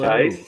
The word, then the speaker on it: Tice: Tice, Fantastic. YC. It's Tice. Hey, Tice.